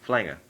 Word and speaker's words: Flanger: like that, so I always use the username Flanger. That is how it's pronounced.